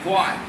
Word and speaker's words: quite: Q-U-I-E-T, quiet.